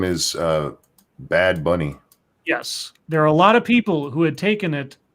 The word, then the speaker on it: Bad Bunny: Butt Bunny or something, it's not Butt Bunny, it's Bad Bunny.